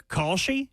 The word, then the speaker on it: Kalshi: If the Titans fans would like a happiness hedge, a $20 bet on Kalshi, is that how you say it? Yeah.